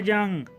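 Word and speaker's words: 장: मिसाल के तौर पर छुंगी ने जंग 4 अदद पेपर शीट्स। छंग भी सेकंड जब पोजीशन में आएगा तो इसे जंग पढ़ेंगे, क्योंकि जो छियत है इसकी जो सेकंड साउंड है वो जीम है।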